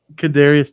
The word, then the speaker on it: Kadarius: How do you pronounce his first name? From the Chiefs. Mm-hmm. Kadarius Toney.